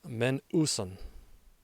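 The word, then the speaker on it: μένουσαν: The word we're going to Greek out on this time is lasting, pronounced menouson, and the root word meno, meaning to remain, to abide, to continue.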